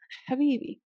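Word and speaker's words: حبيبي: And this ha is the ha that we find in the word habibi. Mesha is not habibi, habibi. It's a deep Harry Pottery ha, habibi.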